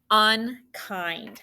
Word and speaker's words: unkind: Do you remember IND? It's an exception because that I is actually making the long vowel sound, right?